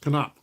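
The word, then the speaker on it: Knoop: thing they see but Bobby no's last name is pronounced canop canop thank you for letting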